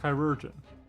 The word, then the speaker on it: Kyroen: Uh I did just check and yeah it does look like it is Kyroen for that pronunciation.